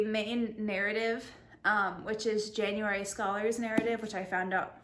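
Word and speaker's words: Scaller: there is a main narrative which is january scholars narrative which i found out her last name is pronounced scholar and then there's the ten thousand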